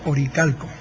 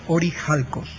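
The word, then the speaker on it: ὀρείχαλκος: Supongo que todos habrán oído hablar del famoso oricalco. Bien, esa es la pronunciación, digamos, latina o castellana, que está mal pronunciado, porque en griego es orijalcos, y orijalcos en griego significa literalmente cobre de monte.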